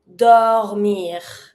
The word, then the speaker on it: dormir: To sleep, dormir. Pronounce it, it's finishing with the R.